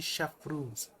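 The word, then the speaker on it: Chevreuse: Shepher is Is that how you say her name? Because I as as somebody who took French, her name should is supposed to be Chef Ruse.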